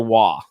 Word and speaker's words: Roy: They lost in overtime when Nicolas, is it Roy or Waugh? I mean, because it is Waugh. Yeah, it's the French pronunciation. Okay, it is Waugh.